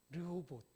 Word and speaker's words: 르호봇: 로봇하고 발음 비슷하죠. 르호봇.